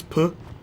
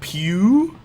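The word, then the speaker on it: Pugh: her name pronounced again Florence puh Florence pew second times the charm pew but look at it it's it's clearly ugh Florence like a gun sound Pew yeah like a guns out Bang Florence Bang I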